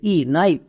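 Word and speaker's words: knife: সবাই জানি শেষেই সাইলেন্ট থাকে তাহলে এবার একসঙ্গে উচ্চারণ করো কে এন আই এফ নাইফ নাইফ মানে ছড়ি নেক্সট আরেকটি ওয়ার্ড দেখো যেমন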